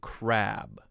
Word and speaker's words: crab: HJK6 says, could you explain the difference in pronunciation between crap and crab?